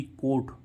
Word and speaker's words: coat: सभी में ओ के बाद क्या आ रहा है, ए, तो इनका उच्चारण क्या हो रहा है, ओ। और अभी ओ के बाद क्या, ए, ओ के बाद एक व्यंजन छोड़ के ई आ रहा था, तब भी उसका उच्चारण क्या हो रहा था, ओ। और ओ के बाद ए आए, तब भी उसका उच्चारण क्या होता है, ओ, ठीक है।